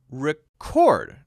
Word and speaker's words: record: a meeting then you record now notice how that first syllable suddenly loses its stress RI Rick Rick and becomes a schwas sound and the second syllable is now stressed chord so when you